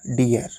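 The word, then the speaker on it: deer: आप लोगों के लिए D double E आर डियर तो दोस्तों डियर मींस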